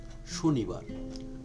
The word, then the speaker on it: শনিবার: 1 নম্বরে যেটা আছে সেটা হলো শনিবার। শনিবার উচ্চারণটা হবে শনিবার।